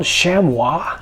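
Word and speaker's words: chamois: what they are uh they're called shamwa I believe uh which is spelled like Shamy cloth and uh from an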